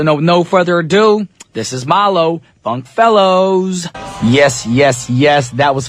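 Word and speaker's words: Maalo: Yes, it's spelled M-A-A-L-O, but the name is pronounced Malo, not Ma'alo. That's what I thought it was. I thought it was like some Hawaiian word.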